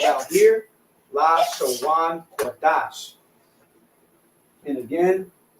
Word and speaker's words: Lashawan Qadash: And when it reads Lashawan, so it's la, sha, wan, because the wa and the na are connected.